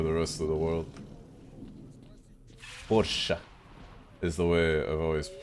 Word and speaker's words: Porsche: It's a German mark, so the last E is pronounced, what, Porsche?